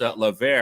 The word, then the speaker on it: Levert: was the test right you can get a hat if you can call us LA and not lever yeah right so we